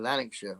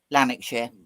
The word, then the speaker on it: Lanarkshire: a long history of war and power in Lanarkshire. Wow. That sounds good. Yeah. I love those old 1930s travel guides. How do you Brits both say Lanarkshire? Lanarkshire. Yeah. Although I just said Lanarkshire and you went Lanarkshire.